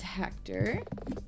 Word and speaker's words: Hector: Hector, your name rhymes with director.